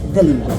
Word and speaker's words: Dehlinger: Robert Dehlinger. Did I pronounce it right?